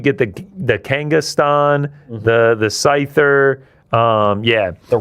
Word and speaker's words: Scyther: Um and then uh it's not Skyler. How do you pronounce it? Oh, Scyther. Scyther.